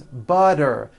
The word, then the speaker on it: butter: better she's feeling better and butter becomes butter please pass the butter this should be